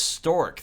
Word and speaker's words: STCR: Storage security technician controller replica stork oh it's stork that's how it's pronounced okay got it type generation 5 combat